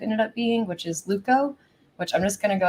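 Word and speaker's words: TLVKKO: for the t and the t is silent so it's actually l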